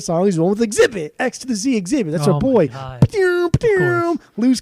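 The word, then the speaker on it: Xzibit: love it love it x to the Z x to the Z exhibit baby that's how you say it every single time don't ever do it differently but lose cannons I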